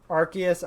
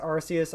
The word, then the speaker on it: Arceus: interesting debate is like arceus arceus r seuss because those are the three official pronunciations and the fact that